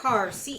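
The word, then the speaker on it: Karr: Carr, K-A-R-R.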